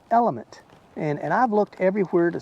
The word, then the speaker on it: LMNT: The LMNT, which one of my subscribers, you made the comment that said that is pronounced element.